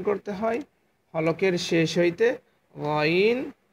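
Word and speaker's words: غين: ঠিক আছে, অ্যান্ড 3 নম্বর মাখরাজ হলকের শেষ হইতে গইন হ উচ্চারণ করতে হয়। হলকের শেষ কোনটা? হলকের মধ্যখান হইতে আইন হা, অতএব এই যে শেষ। হলকের শেষ হইতে গইন হ উচ্চারণ করতে হয়।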